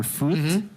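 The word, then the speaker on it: FOT: It's not you would first hear the f o t or foot, but then when pronounced properly, foot esports rolls off the tongue.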